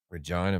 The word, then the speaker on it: Regina: 3rd saskatoon june 4th regina regina man it's the city that rhymes with yeah